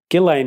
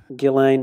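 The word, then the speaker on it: Ghislaine: not to but um gillane maxwell is how it's being pronounced uh by everyone on tv all right without the if so i just thought i'd get that in there gillene maxwell um let's just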